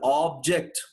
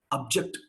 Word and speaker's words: object: When you take it as a noun, that guy takes the long vowel, object. When he is a noun, he is the object. But when I treat this fellow as a verb, When I treat this fellow as a verb, object.